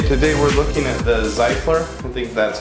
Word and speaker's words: Zyfler: ok today we're looking at the cycler things that's how you pronounce it here's the logo toiletry bag I